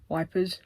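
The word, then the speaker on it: Ypres: But we went to Heapas, Yep, wipers, leper, however you want to pronounce it, to do some World War I stuff.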